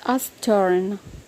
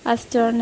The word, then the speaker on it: astern: Next word is astern. It's not astern, it is astern in American, and R is silent.